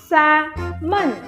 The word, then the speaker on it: salmon: It is salmon. But এখানে তো L আছে না? S-A-L, sal, M-O-N, mon, salmon, তাই না? হ্যাঁ, L আছে, বাট ওই Lটা silent. Keep that L silent.